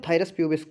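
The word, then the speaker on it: Phthirus pubis: silent कर लीजिए तो थायर अस प्यूब बोल देंगे जाकर के ठीक है ना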